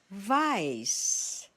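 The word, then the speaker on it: weiß: And what about w in German? You pronounce it as v. Black is white. Vice vice.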